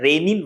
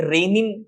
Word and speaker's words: Renin: Pronunciation दोनों का same होता है, लेकिन इनके मैकेनिज्म में, इनके प्रोसेस में, इनके सिक्रीशन में डिफरेंस होता है।